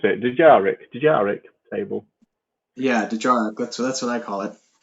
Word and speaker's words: Dejarik: And of course, how would you pronounce it? Dejarik table.